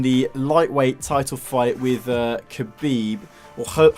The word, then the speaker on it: Khabib: Conor McGregor in the lightweight title fight with khabib or hope Habib as it's pronounced yeah loads of like kind of media